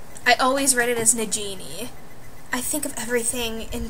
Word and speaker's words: Nagini: But anyway, we're gonna go over to the pronunciations. Okay, so Nagini, I had zero idea that that was how you said her name.